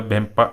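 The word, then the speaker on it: Mpemba: यहाँ पे बेम्पा आप देख लो किस तरह लिखा है, एम लिखा है, तो एम जो आपका यहाँ पे साइलेंट रहेगा, बेम्पा इफेक्ट बोलते हैं।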